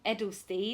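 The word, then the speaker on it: Eydelshteyn: Edelstein.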